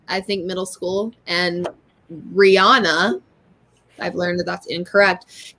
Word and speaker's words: Rihanna: It's Rihanna. I said, no, it's not. I know that's your name and all, but it's not Rihanna to me. It's Rihanna. But sure enough, Rihanna. That's how she pronounced it. So I'm assuming that's the way it's pronounced because it's her name.